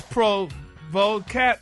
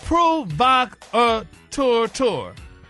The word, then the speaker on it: provocateur: It's pronounced, damn it, provocateur. That's what you got down here. Hey, now look, all the damn buzzes. No, say it. Break down syllables. First syllable, Pruh. P-R-U-H is pru. Pruh. Vok. Tour.